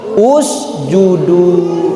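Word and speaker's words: اُسْجُدُوا: Lihat huruf yang ketiganya domah enggak? Iya. Maka dibaca usudu.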